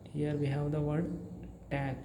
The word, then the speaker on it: Tag: A and G, but in German the G, whenever the word is ending with letter G, the letter G's sound becomes K, right? So here T, A, G becomes T, A, K.